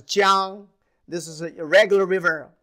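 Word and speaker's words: 江: So this is a big river, pronounced as Jiang.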